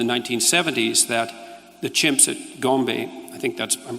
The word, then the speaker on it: Gombe: But then, of course, Goodall showed in the 1970s that the chimps at Gombe, I think I'm pronouncing that correctly, yep, would go on raiding parties, right?